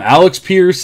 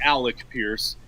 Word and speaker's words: Alec Pierce: have alec pierce people i've heard multiple people call them alex pierce i mean we just we have no idea here it's just like it's it's not good let's just say that you know clearly alec pierce but also like every